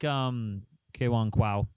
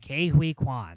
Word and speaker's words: Ke Huy Quan: But I also like Kwan Kwao. I butchered his name there. Ke Huy Quan.